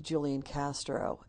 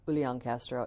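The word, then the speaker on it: Julián: I enjoyed listening to Julian Castro he um which I didn't pronounce it correctly Ulan Castro he is he's an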